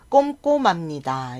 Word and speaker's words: 꼼꼼합니다: 박지원 부장님은 꼼꼼합니다 꼼꼼합니다 여기도 지금 앞에 미음이 있어서 히읗 발음이 잘 안나요 그래서 꼼꼼합니다 하면 발음하기 어렵기 때문에 꼼꼼합니다 미음이 희 자리에 가서 꼼꼼합니다 이렇게 발음이 되지 아이는